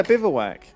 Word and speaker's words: bivouac: it's pronounced? A bivouac. Yeah, bivouac.